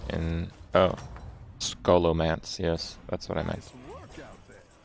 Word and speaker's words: Scholomance: pretty lucky to me you don't pronounce the h and oh scholomance yes that's what i